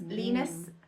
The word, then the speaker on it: Linus: Linus rhymes with Venus, and Joseph Yes.